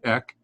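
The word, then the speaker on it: ἐκ: This one is a kappa, which is just simply ek. Ek or eh. X. Yeah, it's EXS is how you would pronounce it.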